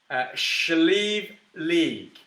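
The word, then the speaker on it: Sliabh Liag: So it's pronounced apparently Slieve League. Slieve League Distillers, SLD, Slieve League Distillers. It's spelled SLIABH, LIAG, and then Distillers.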